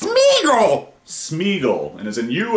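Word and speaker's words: Sméagol: On line number 5, we have Smegel, is it? Am I pronouncing that right? It's Smeagol.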